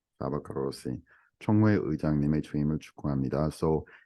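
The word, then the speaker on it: Csaba Kőrösi: So next, I cannot pronounce this name. Do you have the name? Shaba Korosi. Shaba Korosi.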